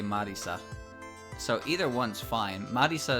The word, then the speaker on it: Marisa: Marisa is how they pronounce it. But, you know, it's an actual name. So in English, I can just say Marissa, right?